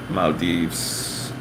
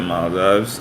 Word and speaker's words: Maldives: then you'll learn um Maldives Maldives I figured actually like right after I said my loves I was like it can't be that that just sounds wrong but yeah you'll hear